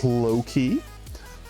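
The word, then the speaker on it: Lohk: Next up, we have Loki. Let's see. We'll put, let's give a cobblestone. It's a variant. Yes, because their name is spelled L-O-H-K. Loki.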